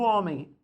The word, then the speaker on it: homem: que saber contar isso o homem o h não é pronunciado só que tem uma característica muito interessante quando a palavra terminem m em português você não pronuncia homem a homem normalmente faz um de tombo nasal homem aparece e então é assim